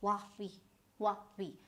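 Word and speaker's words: Huawei: this was Hao, and now this is H-U-A. So this is, again, go by the letters Hua and Vi. So because they pronounce it like a whiff of wind, so they're very abrupt with their talk. So this is Hua Vi.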